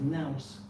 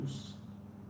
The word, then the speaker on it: nous: What used to be pronounced as nous in England, and teachers would like to say to their pupils, use your nous, meaning what?